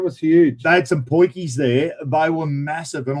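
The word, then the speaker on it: potjie: It's called a poiki, but it's spelt weirdly. South African spelling is not like you did well to spell Boerewors, spell poiki. South African camp oven, poiki.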